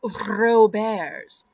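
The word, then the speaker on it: Robert's: five locations it's called Ro Bears it's spelled Roberts but it's pronounced Ro bears okay um I'm going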